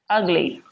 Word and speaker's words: ugly: and longer for example when i say the word ugly ugly ah uh one of the syllables sounds longer and louder can you guess which one it is ah ah this is it the first syllable you get that the